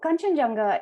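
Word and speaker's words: Kangchenjunga: Uh in my language we would pronounce it. So Kenjanga is the uh third highest peak on the planet.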